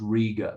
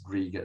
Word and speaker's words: Riga: There was a young woman okay, I know it's pronounced Riga, but it just doesn't work if you pronounce it Riga.